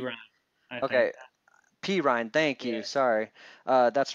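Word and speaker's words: Perine: Perrine, Right. uh, I is think that? Am I say his pronouncing that name P right? Ryan. I think. Okay, P. Ryan.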